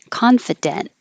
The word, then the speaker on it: confident: do starting with confident now the eye can be fu or fit because it's not stressed confident and hold the t if it's just by itself or if there's a